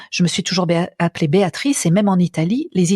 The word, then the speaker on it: Béatrice: intéressant aussi de voir la prononciation Béatrice en particulier Béatrice en français c'est trois syllabes en italien c'est quatre Sy la Béatrice donc même le son est différent moi au niveau intime